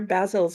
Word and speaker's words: Basil: you say it Alex I said it basil because that's the British pronunciation and well I mean